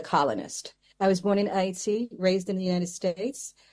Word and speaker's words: Haiti: And so Haiti, the reason they say hate, that is not the pronunciation, it's Haiti.